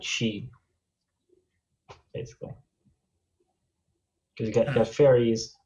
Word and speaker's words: Sidhe: It's like from Oh, Gaelic. I thought it was pronounced Sedai. No, she. It's Gaelic, so it doesn't make sense.